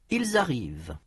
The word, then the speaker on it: ils arrivent: Note in particular that the S of tu arrives is not pronounced, nor is the final NT of ils arrivent.